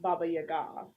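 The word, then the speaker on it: Баба-яга: sent to the Baba Yaga and it's actually pronounced Baba Yaga first of all but um she saves herself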